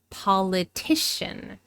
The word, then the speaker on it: politician: So the third syllable has the primary stress. But notice that the first syllable has some secondary stress. We don't reduce this syllable to a schwa, like in the adjective political. But it's not the main stress.